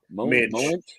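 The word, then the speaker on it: Moench: Minch. Monch. Minch is the way it's Minch?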